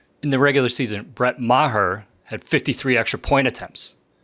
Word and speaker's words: Maher: the Cowboys kicker Brett Marr yeah that's his name yeah no it's not pronounced Mar it's pronounced Maher right like I'm going to murder you after the show yeah